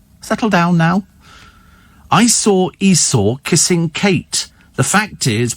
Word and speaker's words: Esau: I did because it's I saw Esau sitting on a seesaw that's what it that's